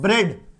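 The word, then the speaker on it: bread: बी आर ई ए डी, ई ए, तो ए जैसा sound करेगा, एकार। ठीक है, एकार की मात्रा होती है तो ब्रेड, ब्रेड मतलब ई ए जो है वो क्या बन गया?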